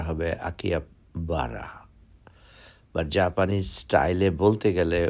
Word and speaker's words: Akihabara: মনে হচ্ছে আকিয়া পারা বলা হচ্ছে বাট কারেক্ট উচ্চারণটা হবে আকিয়া বারা বাট জাপানিজ স্টাইলে বলতে গেলে ওরা যখন জিজ্ঞাসা